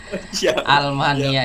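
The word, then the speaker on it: ألمانيا: bukan Alif Lam ya Ini bukan Alif Lam ini Hamzah lam jadi makanya tadi bukan bacanya bukan Minal Mania enggak mint almania Nah jadi ini hanya asli ini almania almania artinya Jerman terus pisau-pisau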